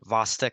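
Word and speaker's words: Chvostek: and whatnot so the vastic sign apparently I learned apparently the CH is silent so the vosic sign uh when someone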